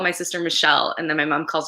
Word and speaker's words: Michelle: e ll e but my mom pronounces it michel cuz she's from quebec in like not your mom's French but like it's just Michelle and we all make fun of her for mispronouncing my sister's name cuz my sister prefers